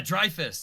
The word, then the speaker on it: Dreyfus: Every time- Dreyfus. Yeah, Dreyfus. That's how you say it.